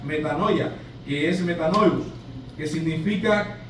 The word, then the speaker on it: metanoia: que se llama que se dice o se pronuncia metanoia, que es metanous, que significa cambio de mente, mis hermanos.